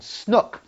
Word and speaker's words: snoek: There's a very traditional pairing in South Africa with a fish called snoek, S-O-N-E-K, but actually pronounced like book.